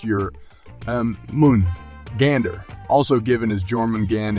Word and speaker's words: Jörmungandr: creatures in nor mythology and his name is pronounced your um Moon Gander also given as German Gan in meaning huge